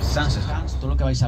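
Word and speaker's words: Zaanse Schans: El pueblo se llama Sansesans. Familia, apuntad, o grabad, mejor dicho, porque esto cae al final, en el examen de vuelta a Ámsterdam, cae la pronunciación del primero de los pueblos. Sansesans.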